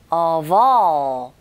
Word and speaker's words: of: of의 v, 철자는 f지만 이게 소리가 v, 소리가 나거든요. 즉, 자음이죠.